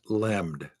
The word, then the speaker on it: LLM: So LLM pronounced lemmed.